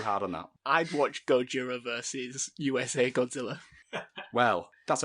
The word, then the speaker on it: Gojira: the film though well Gojira is the original Japanese name yeah and then Harish Shera mispronounces that as Godzilla but the actual name